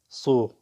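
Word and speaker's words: su: بعدها صو اللي هو الماء. صو. وهنا الساء لفظة صا لأن إجا بعدها حرف علة ثقيل.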